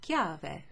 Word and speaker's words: chiave: sound but you also have an h c in an h is always a k okay like in chianti or in the word who ki or in the word chiave which also means key like